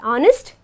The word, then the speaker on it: honest: honest and R where an H becomes silent and we pronounce it as honest and R okay we